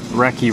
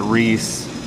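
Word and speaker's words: recce: 16 inch ad s reki rifle a reccy rifle spelled our ecce pronounced reki not Reese I mean you can say it however you want but it's it's reki is British for reconnoiter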